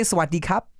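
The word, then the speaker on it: สวัสดีครับ: But the correct pronunciation is with a little rolled R in there.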